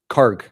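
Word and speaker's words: Kharg: Uh pronounce Kark. Uh the end letter is like a book, not ch in church. Okay, Kark. Kark. Karg.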